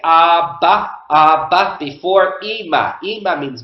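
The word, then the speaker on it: אבא: Abba. Abba. And you can see the Aleph at the end. Don't worry about the Aleph at the end. Again, the Aleph is silent.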